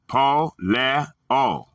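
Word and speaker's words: πωλέω: The Greek word is going to be polio, pronounced poleo.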